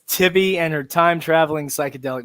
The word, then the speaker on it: Tibbi: Oh, Yeah, it's I'll tell you, man, it's been pronounced so many different ways on so many different shows now. Sometimes I have to stop. Tibbi. I've had people calling her Titty, Titty.